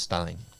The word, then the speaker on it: Steen: It's pronounced Stein.